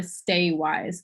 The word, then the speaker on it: WYSE: It's called the Stay Wise Conference, and I can put it in the chat if that's helpful, because it's spelled like that with WYSE.